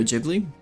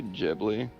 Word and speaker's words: Ghibli: Studio Ghibli? You say Ghibli? It's Ghibli, you fucking idiot.